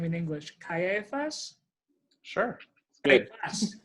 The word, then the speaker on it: Caiaphas: Caiaphas? Sure. Good. Caiaphas.